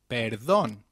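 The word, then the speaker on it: perdón: if we were begging pardon we will say Peron very good let's quickly revise the phrases we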